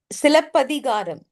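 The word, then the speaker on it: Silappatikaram: Is that the right did I pronounce it right? Silapatikaram, It right? is Silapadigaram.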